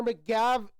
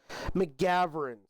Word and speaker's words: McGovern: Connor McGovern is going to be the center going forward for the Bills as he resigns a 4-year $52 million contract. McGovern, sorry, I missed the G in that pronunciation.